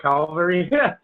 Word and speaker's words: Calvary: Like not call it cavalry, they call it Calvary.